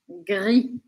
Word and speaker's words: gris: a gente fala e o r arranhadinho G GR se você tiver dificuldade por causa do G com R dá um espaçamento pequeno entre eles no começo Gris Gris Gris Blan Blan aquele som